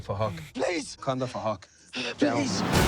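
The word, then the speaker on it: Phuc: His name is Fahak. It's spelled with a PH, so it sounds like Fahak.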